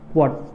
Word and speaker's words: watt: मराठी बच्चे इसको वैट बोलते हैं, आप लोग जो भी मराठी हैं वो वैट बोलते हैं, एंड हम जो है इसका एक्चुअल प्रोनाउंसिएशन बोलता हूँ मैं, that is called to वाट।